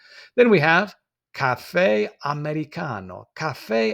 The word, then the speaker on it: americano: So we can see the americano. And you'll notice that in Italian, every single syllable is pronounced, every single letter rather is pronounced.